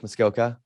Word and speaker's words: Muskoka: Or Lake Muskoka.